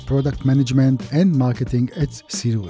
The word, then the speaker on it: SIRUI: You know, so many people have an issue how to pronounce SIRUI, and they complain that every time I use a different name. Sometimes SIRUI, sometimes SIRUI, sometimes SIRI. So what is the real name of the company? SIRUI.